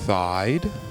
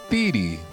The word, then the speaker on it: Theedee: video and think about it did you think thigh did you think feed did you use the proper German pronunciation something like well those are all wrong it's theti at least according to my dad and my